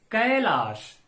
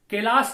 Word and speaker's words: कैलाश: तो कैलाश का उच्चारण हम कैसे करेंगे? कैलाश, कैलाश नहीं या किलाश नहीं।